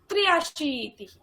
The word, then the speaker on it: त्र्याशीतिः: द्व्याशीतिः अशीतिः द्वे अशीतिः त्वे अशीतिः द्व्याशीतिः त्र्याशीतिः पुनः वदतु शक्नोति। द्व्याशीतिः त्र्याशीतिः त्रय न त्र्य तये रफला यफला उच्चारणं करोतु। त्र्य त्र्याशीतिः सम्यक्।